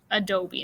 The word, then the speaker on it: adobe: here pueblos and then adobe adobe not a doe the adobe okay so read those